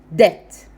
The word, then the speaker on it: debt: vodka number one is debt the B is silent debt and it means then